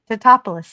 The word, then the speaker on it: Tatopoulos: And we had creature effects by Patrick Tatopoulos. I don't know why I decided to say that name. Tatopoulos, thank you. Well, and the only reason I know how to pronounce that, it's a Greek name, and the reason is